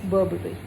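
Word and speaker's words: Burberry: बहुत अच्छा ब्रांड है, बट प्रोनाउंसिएशन इज़ बर्बरी।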